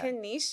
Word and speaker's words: Kennisha: Kenisha, it's so good to have you here. Am I saying your name right? Is Kenisha or Kenisha? Kenisha. Yes. Kenisha.